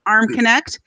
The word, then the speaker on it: Armconnect: He's, despite the consonant to vowel ratio in his name, it's just pronounced Armconnect.